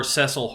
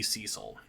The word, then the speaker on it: Cecil: anyways and that is Cecil Harvey or cesil Harvey as some people would pronounce the name for me it has and always will be Cecil now Cecil is the